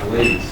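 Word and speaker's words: Blaise: a guyo gas pressure this guy's name is blaz he was really boring is is that how you pronounce it yeah blaz I will say one thing Caleb when when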